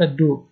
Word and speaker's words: dos: پایین کمر تمامی قسمت دو d o s دو j'ai mal au dos من کمر درد دارم j'ai mal au dos j'ai mal au dos دو است تلفظ نمیشه من کمر درد دارم